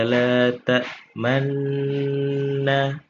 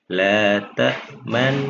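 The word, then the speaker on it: لَا تَأْمَنَّا: Jadi memonyongkan bibirnya ketika mau masuk ke huruf nun dan dilepas nanti ketika sudah selesai pada huruf nunnya. La ta'manna ketika kita mau memfathahkan nunnya pada kalimat nun yang terakhir maka baru boleh kita lepas. Itu cara membaca ismam.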